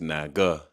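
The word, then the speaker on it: 那个: and here's the opinion how you would say it is nag you would say it like Naga technically you would say [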